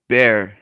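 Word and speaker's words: Bexar: would go in person what san antonio's is called bear and it's spelled b-e-x-a-r jesus christ why um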